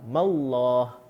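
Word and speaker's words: بسم الله: Mim berharakah kasrah, bacanya tipis. Jadi bismillah tebal, mallah. Disebabkan baris bawah bismillah. Okey. Hukum dia apa? Kalau orang tanya, hukum dia adalah tarqiq, perlu dibaca nipis, tidak boleh baca tebal.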